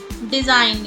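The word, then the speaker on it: design: डिजाइन, इसमें भी जी silent रहता है, डिजाइन, रिजाइन।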